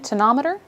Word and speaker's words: tonometer: Okay, and I think today we're here in particular to learn more about the tonometer. Is that how you say it? That's right. So what I have here is the tonometer, or the tonopen, which we use to measure intraocular pressure in flight.